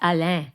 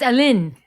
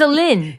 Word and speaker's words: Aline: No, it's Alain. No, it's Aline. It's Aline. Did you just say Alain? Like, Because I've been saying, Alan? that's what I've been saying for 7 years. It's Aline.